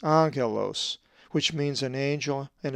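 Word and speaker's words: ἄγγελος: For example, the double consonant gamma gamma is always pronounced ng, as in anger. A Greek word that has the gamma gamma double consonant is angelos, which means an angel and is number 32.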